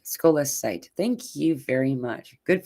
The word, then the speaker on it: scolecite: Oh, here we have a way to pronounce it. Scolecite. Scolecite.